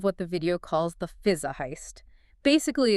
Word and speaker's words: Fuliza: It's pronounced roughly Fuliza.